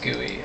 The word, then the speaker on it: GUI: the CLI or guy GUI is pronounced guy all right so then